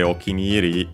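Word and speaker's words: お気に入り: Uh by the way, okineri uh the full expression is unacented.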